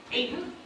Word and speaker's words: Ayton: Ayton, thank you.